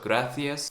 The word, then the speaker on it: gracias: They told me C and Z is like TH sound in English, like the. So gracias, cerveza.